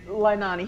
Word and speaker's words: Leilani: Leilani.